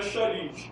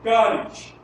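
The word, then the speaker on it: χάρις: Sendo que a pronúncia correta no grego não é charis, é caris.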